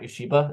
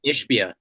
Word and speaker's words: Ishbia: hope is to call up how do I pronounce the last name? Matt Yoshiba, is that his last name? New owner of the Suns. Is that his name? Yeah, I think so. Oh, Ishbia.